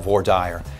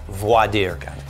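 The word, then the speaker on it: voir dire: the first phase is what we lovingly in East Texas call vorder it's actually in some jurisdictions pronounced wait for it voidirca French to speak the truth and that's because we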